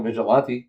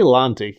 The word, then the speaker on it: vigilante: You say Lanti. You're a vigilante. Vigilante? Vigilante? Yeah. Vigilante. Vigilante. You're like vigilante. I'm extending the syllable. Like, he's a really upscale vigilante. Yes, vigilante. It's like French, enchanté.